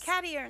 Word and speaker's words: Cadiern: Cadiern, that's how you It's pronounce his simple, name.